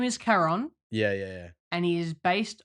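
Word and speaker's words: Charon: Quran like a it's it's ch but it's K that's how you pronounce it and the only thing that me in the entire film is that Winston says Sharon like Sharon yeah like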